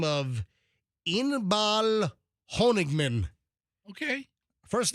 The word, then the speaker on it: Inbal: psychic a psychic astrologer by the name of Inbal honigman okay first name is spelled i n b a a l Inbal